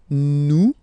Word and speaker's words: nous: Here it's nous. Okay, sorry about that. Whoops. Nous sommes. Okay, nous sommes. Okay, so you don't pronounce the final S here, it doesn't exist.